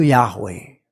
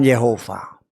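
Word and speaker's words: Yahweh: Saya lupa dulu pokoknya pernah saya baca yang benar itu Yahwe bukan Yehova Yahwe.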